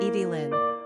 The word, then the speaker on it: Evelyn: as modern Darlings and Evelyn is no exception quick facts on Evelyn gender girl origin English number of syllables three ranking popularity twenty pronunciation Evie Lynn simple meaning a living being